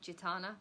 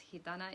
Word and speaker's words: Gitana: If you only know me and don't know me in person, Gitana is the other name, but most English people just pronounce it Gitana, but it's Gitana, it's Spanish.